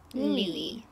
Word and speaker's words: Louis: It's spelled L-O-U-I-S. Louie.